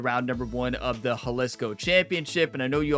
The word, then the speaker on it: Jalisco: number one of the Haliscoco Championship. And I know you all might be wondering, I thought it's Disco Championship. I thought so, too. But Google said it was the Haliscoco Championship.